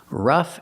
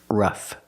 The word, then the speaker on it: rough: Today, we're looking at these two words, rough and roughly. First, pronunciation. Use the short uh sound like cup and up. R-ruff. The gh makes the f sound like flowers. F ruff.